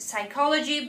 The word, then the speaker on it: psychology: of the word psychology because P is not held at all but it is written down it is held psychology but she spell it